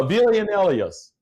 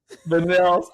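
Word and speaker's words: villanelle: Uh Villianos, I've been trying to pronounce that. Vanels.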